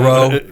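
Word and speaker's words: Rheault: Um Colonel Colonel Colonel Row or Renault or however they Well, it's a French pronunciation of Row.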